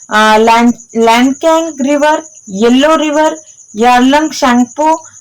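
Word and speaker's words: Tsangpo: शैंगपो कोमे कहउचंती T eighty silent अछि clear.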